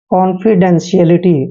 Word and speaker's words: confidentiality: यहाँ पर स होगा, जब भी TIA इकट्ठे आते हैं तो इसका उच्चारण श करते हैं, CLT, CLT यानी कि कॉन्फिडेंशियलिटी।